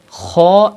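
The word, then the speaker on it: خاء: Kho is pronounced from the top part of your throat, like that. Kho. And you have to pronounce it with thicker voice because it is from Mustaliya letters.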